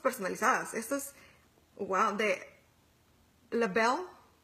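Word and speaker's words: L'Bel: Esto es, wow, de Lebel. Lebel, Lebel, se pronunciaría bien.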